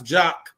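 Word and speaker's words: JAQ: spelled another way but no we we we pronounce jock and spell jock J A KQ so when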